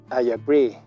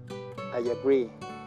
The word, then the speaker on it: agree: pri estoy de acuerdo al pronunciar el verbo acree tiene que sonar una y larga al final ajarey estoy de acuerdo